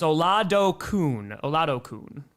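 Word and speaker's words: Oladokun: Oh, so it's Olado Kun, right? Yeah? Oh, there's emphasis on the la.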